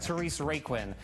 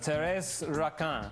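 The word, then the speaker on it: Thérèse Raquin: production of Taurus rockin it looks like Therese Raquin but you know it's pronounced Terrace rockin with an impressive cast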